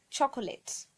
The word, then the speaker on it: chocolates: I've heard people saying chocolates or chocolate so the right pronunciation is chocolates only two syllable three chocolate chocolate third one is depth